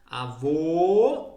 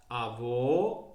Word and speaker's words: avô: vogais abertas vogais fechadas por exemplo abuelo abuela avô avó O ó o ó a letra O tem dois sons o ó avô Ó mas é outro tema